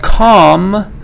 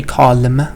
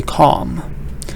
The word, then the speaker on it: calm: But calm, le is silent. I don't say calm, I say calm.